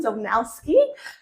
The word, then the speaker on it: Zolnowski: Today I am joined by Zolnowski. I might get you to correct me on my pronunciation there. No, you nailed it.